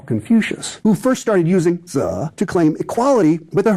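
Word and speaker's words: 子: Initially, master, pronounced zi in Chinese, referred to a low-level aristocrat.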